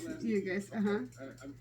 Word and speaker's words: Ugas: Yes, Ugas.